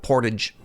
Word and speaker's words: Portage: In Winnipeg, one of the main through roads is called portage, right? Like the thing that you do when you carry a canoe and they call it portage.